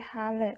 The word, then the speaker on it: Halle: tadi berarti di jerman di halel berani bacanya hale hale hale oke kenapa sih lo